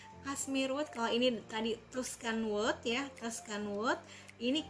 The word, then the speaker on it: Tuscan: Kalau si Giordani Gold Essenza ini dia punya base note-nya Tuscan wood, Tuscany, bacanya berarti Tuscan ya, Tuscan wood, amber note dan musk.